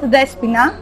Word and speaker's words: Despoina: is not so usual the espina pronounce it despina it comes from the